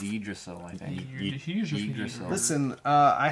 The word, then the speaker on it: Yggdrasil: It's Yggdrasil, I think. Yggdrasil. Listen, I happen to be Viking. Really? I know the pronunciation of Viking things.